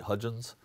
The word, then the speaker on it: Hudgins: about is Roy delois Hudgins and am I pronouncing that right Hudgins and I think you're the first person who